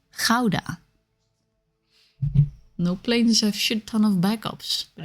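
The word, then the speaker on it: Gouda: land of cheese C the guda or as it's correctly pronounced Kaa no PLS have [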